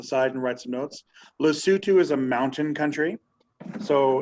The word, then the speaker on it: Lesotho: in the middle we have a country called lesotho l-e-s-o-t-h-o lesotho okay l-e-s-o-t-h-o all right um you spell it lesotho but you say lesotho right um